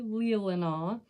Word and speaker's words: Leelanau: But yes, it's actually Leelanau, and it's kind of like the Pinky of Michigan.